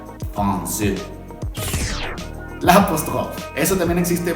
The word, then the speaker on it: français: La cédille se utiliza para que cuando utilices esa A, O o U y quieras mantener la pronunciación de Z, entonces usas la cédille, como en la palabra français.